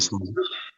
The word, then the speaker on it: Salih: Bon, en arabe, c'est Salih. En Ça allait. turc, bah, c'est Saleh. Saleh en turc, ouais. Mais le vrai, c'est Salih, tu vois, avec un H aspiré à la fin.